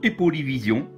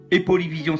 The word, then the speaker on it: Aipoly Vision: Alors cette application s'appelle Epolyvision. Epolyvision s'écrit A-I-P-O-L-Y, vision plus loin.